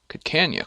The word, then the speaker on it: Kiskani: Kiskani is pronounced Kikanya clan.